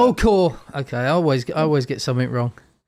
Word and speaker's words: Kuhr: Am I pronouncing your surname correctly? You got it. It's Kuhr. Kuhr.